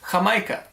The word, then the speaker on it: Jamaica: It's a certain variety of hibiscus, spelled like Jamaica, pronounced Jamaica.